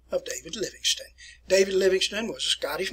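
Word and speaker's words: Livingstone: dr david linux then that's where it's pronounced there livingston not living stone uh set forth and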